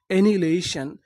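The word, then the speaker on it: annihilation: एनिलेशन, एनिहिलेशन, एनिलेशन। एनिलेशन का मतलब होता है विनाश, यानी आप किसी चीज का विनाश कर देंगे तो उसे हम लोग क्या बोलेंगे? एनिलेशन। एच आई का उच्चारण नहीं करना।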